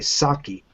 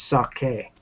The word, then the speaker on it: sake: with saki you know a lot of people in America say saki but that's actually not a word in Japanese it's sake you know so you know